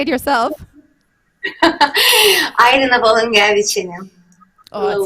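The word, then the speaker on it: Volungevičienė: do it herself, because it's Volungeviciene when I do it, but I'm sure that's wrong. Is it right? Yeah? Okay. Yes. Okay. Do you want to say it yourself? Airina Volungeviciene.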